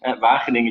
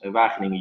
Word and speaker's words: Wageningen: in this university town that is impossible to pronounce for foreigners, Wageningen University, and it's truly an amazing ecosystem. So even though it is a small university town, a lot of big players are now moving towards Wageningen University or to the campus, because we are